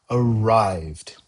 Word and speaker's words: arrived: note here is that even though the ending is ed, we don't normally pronounce it that way. In the example, Tom arrived at the office, we do not say Tom arrived at the office. We say arrived.